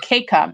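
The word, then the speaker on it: mkeka: What I had just shared, that was a question before, the Mikaka mat, or the Keika mat. Sorry, I'm pronouncing it. The M is silent.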